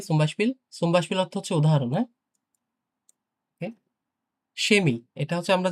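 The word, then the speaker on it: Chemie: সুম্বাসপিল অর্থ হচ্ছে উদাহরণ সেমি এটা হচ্ছে আমরা যে কেমিস্ট্রি বলি না কেমিস্ট কেমিস্ট্রি সেমি হ্যা সেমি এটা কিন্তু কেমি হবে না কেমি অনেকে কেমি উচ্চারণ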